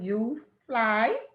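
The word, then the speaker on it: UFLI: of florida literacy institute or they pronounce it you fly for short and they have created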